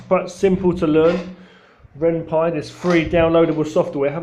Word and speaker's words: Ren'Py: But anyway, my first game was made on Ren'Py, very simple software called Ren'Py. Free software too. Takes a bit of learning, but not too much. It's quite simple to learn. Ren'Py, this free downloadable software.